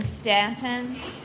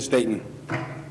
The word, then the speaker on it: Staton: he bonded your honor Stanton I don't know what's your name sir Staton I'm sorry I mispronounced that mr.